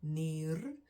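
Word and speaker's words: nier: looking at one kidney it's just near near without the e so plural singular near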